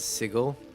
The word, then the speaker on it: sigil: Or I think if you pronounce like Matt Mercer, I think he says sigle. Is that a sigil?